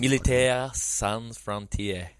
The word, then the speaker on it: Militaire Sans Frontières: Militaire Sans Frontières. Which I'm going to call MSF going forward. So I didn't roll my R's enough, but that was roughly it.